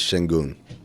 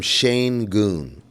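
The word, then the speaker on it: Şengün: to talk about is the way Reggie Miller pronounces Sengun. He calls him Shane Goon.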